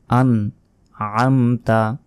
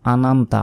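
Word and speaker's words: أَنْعَمْتَ: second টেনে পড়তে হবে আন আমতা আন আতা আইন এখানে মোটা ভাবে মানে গলার ভেতর থেকে উচ্চারণ হবে আন আমতা আমরা অনেকে বলি আনমতা আনমতা নয় আন আতা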